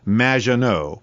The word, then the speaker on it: Maginot: have mispronounced my name it's m which rhymes with badge uh as in Du and no as in more than you maano anyway thank you for having